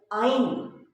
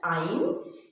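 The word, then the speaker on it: yne: This is pronounced as ein, means sounds like vowel. We pronounce Y-N-E as ein.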